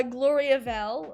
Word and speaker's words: Gloriavale: listen to this okay dragon mirror thank you pronunciation guide uh gloriavale okay so i got those correct and then